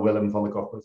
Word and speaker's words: Willem van den Corput: And it's pronounced really well, Willem van de Corput.